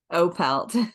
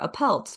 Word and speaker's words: Opelt: people assume it's Irish and give it a little bit of an Irish flair. Opelt, but it's Opelt. Opelt. Okay. It's German.